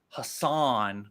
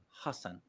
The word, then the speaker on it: Hasan: then it's not i always used to say hassan but it's hassan right oh wow okay that's very impressive right